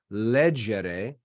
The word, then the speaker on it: legere: And then leggere has the accent on the third to last syllable because that E is short.